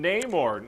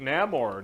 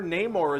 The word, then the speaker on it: Namor: threat oh it's freaking Neymar Namor no more how do you pronounce that you know everybody in the movie is going to say it differently I guess there's